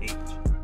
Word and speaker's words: Aitch: because i'm guessing that's how y'all say because y'all say it's h you know so it's the let's y'all say it's like the letter h but you just pronounce it h right i hope i'm